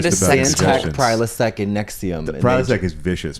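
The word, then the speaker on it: NXIVM: Nexium. It sounds but like- it's spelled like NXVI.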